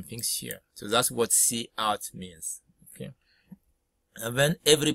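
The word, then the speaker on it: cout: Oh, you can make it so and C out here, you can pronounce C out, it's an object you together with the insertion operator, you see this.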